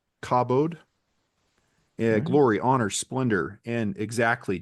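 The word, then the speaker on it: כָּבוֹד: gaming keyboard so click click click yeah it's pronounced cobod cabode glory honor Splendor and exactly denotes primary concept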